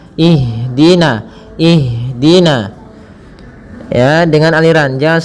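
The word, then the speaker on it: اهدنا: Pada bacaan ihdina di sini ada huruf ha yang dia sukun. Ha ada salah satu sifat yang dia harus kita lafalkan ketika membacanya itu sikap eh maaf sifat hames. Hames artinya mengalir nafas kita. Mengalirnya nafas kita. Maka jangan sampai huruf ha ini memantul. Misalkan ihdinasirat ya. Akan tetapi alirkan nafasnya. Ihdina.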